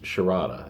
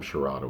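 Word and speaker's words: Sarada: worked with his daughter her name is sharada it's s-a-r-a-d-a but it's she pronounced at the time sharada with like there's an h in it sort of like sharday i guess s-a-d-e come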